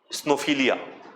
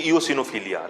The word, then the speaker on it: eosinophilia: me that I have snowphilia. Right? It is basically eosinophilia, right? People call it snowphilia, snow wala, है ना? उसको गलत pronunciation करते हैं.